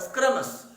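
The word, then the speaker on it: scrumptious: तो ये delicious, delectable, Pinkett, प्लेटेबल, स्क्रमस, इसका याद रखिए SCRUMPTIOS, स्क्रमस, इसका उच्चारण क्या होगा? शुद्ध उच्चारण स्क्रमस, स्क्रमस, पिकेंट, प्लेटेबल, डिलेक्टेबल, डिलीशियस।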